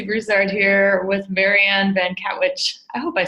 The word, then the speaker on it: Katwijk: It's Broussard here with Marianne Van Katwijk.